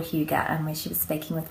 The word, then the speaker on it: hygge: But the session they were doing was called hygge, which you'll have to excuse my pronunciation of the Danish word there.